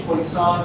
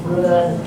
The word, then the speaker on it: Poisson: I mentioned to you before that you have this thing called a Poisson bracket, or Poisson. I'm not a fan of French pronunciations.